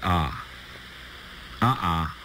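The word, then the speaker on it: aa: A-A, pronounced ah-ah, with the accent on the first ah. Ah-ah.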